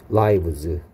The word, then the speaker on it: lives: lives는 life의 복수형이야 그래서 이건 발음이 중요합니다 live고요 여기에 i는 e 소리 나고 있고요 여기에 i는 life i 소리 나는 녀석의 복수형이니까 lives고요 live happy lives 행복한